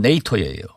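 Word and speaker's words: NATO: 미국이 우리 한국하고 방위비 협상을 하고 나서 바로 일본하고 나토하고 합니다. 미국 발음은 네이토예요.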